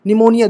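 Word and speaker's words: pneumonia: हो गए है ना न्यूमोनिया निमोनिया देखो पी साइलेंट है न्यूमेटिक पी साइलेंट है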